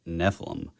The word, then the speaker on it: Nephilim: The funny part was in real time, because I would specifically say Nephilim, and then 2 seconds later, I would just do it wrong.